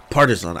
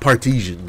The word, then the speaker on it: partisan: Partisan. I think it's Partisan. Partisan. It might be Partisan. It's definitely not Partesian. That sounds like something you would sprinkle on like spaghetti.